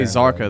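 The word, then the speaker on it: Kzarka: got it okay cool you say zarka the K is silent I think like the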